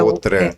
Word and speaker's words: Autran: O Otran é do meu avô paterno. Outran, né? Otran, que É a Outran, pronúncia é Outran.